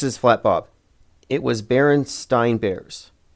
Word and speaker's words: Berenstain: I knew how to pronounce stain. So if it was spelled A-I-N, I would have known. Berenstain. The E-I-N threw me off because that's how it's not pronounced.